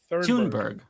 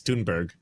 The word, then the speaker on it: Thunberg: How do you pronounce Greta's last name? Thunberg. It's Mm. I always Thunberg. said. I always say. What is it? Thunberg. I thought it was I believe Toonberry it. for so Yeah. long because of how It's Amy Toonberry. Goodman pronounces it, and then Yeah. I heard her interview her on the flotilla, and she's like, "It's Toonberg," and it's Oh my Toonberg, god!